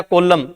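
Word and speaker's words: column: आपने वर्ड याद किया कॉलम ठीक है अब कॉलम की स्पेलिंग अगर अपने देखेंगे सीओ एल यू एम एन होता है परंतु अपने एन बोलते ही नहीं है ठीक है तो अगर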